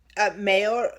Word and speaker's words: mayores: Mayores? Mayores. Spell that again for me. Mayores. Yes. So the Y should be stronger than what you're doing it. So mayores.